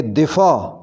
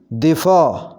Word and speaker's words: دفاع: ادائیگی ہوگی رکابت، رکابت۔ دفاع، صحیح اس کو پڑھیں گے دفاع، دفاع، دفاع۔ چپکلش، صحیح ادائیگی اس